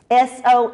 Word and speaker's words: Soniyyah: S-O-N-I-Y-Y-A-H. She was asked, how do you pronounce that name? Soniyyah, because my mama said so.